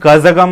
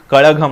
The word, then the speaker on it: Kazhagam: ZH लिखा है KAZHAGAM, लेकिन तमिल भाषा में इसका ZH का प्रोनाउंसिएशन ळ ऐसा होता है। मतलब तमिल का वो स्पेलिंग ऐसा लिखते हैं TAMIZH तमिल, तो इसका प्रोनाउंसिएशन कजगम नहीं होता, कड़गम होता है, द्रविड़ मुनेत्र कड़गम।